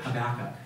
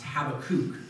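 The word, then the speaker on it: Habakkuk: um and it's on the prophet habac um or it's probably better pronounced habakuk but I'll let Roger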